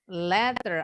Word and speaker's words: letter: Letter atau letter ya. Hati-hati bacanya jangan salah dengan tangga. Kalau tangga, ladder. Kalau surat, letter atau letter. T-nya jelas.